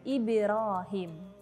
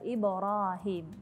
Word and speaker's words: Ibrahim: Contoh yang selanjutnya ada Ibrahim, tapi membacanya Ibrahim, cenderung kepada kasroh. Jadi seperti Ibrahim, padahal Ibrahim, seperti itu.